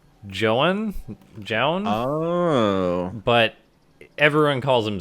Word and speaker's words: Zoun: And anyway, in the bottom left, I believe his username is actually pronounced Joan? Oh. But everyone calls him Zoun. I was going to say, I'm pretty sure Tastosis calls him Zoun.